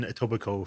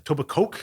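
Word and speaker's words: Etobicoke: up I lived in tobico for like oh you don't pronounce the Kay on that so you know you're from there oh a TOA Coke is that how people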